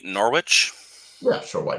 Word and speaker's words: Norwich: It's pronounced Norick. Norick? Oh, I don't know how to pronounce it really. Norick. Norick or Norwich, but yeah, it's more of a hard sound, I think.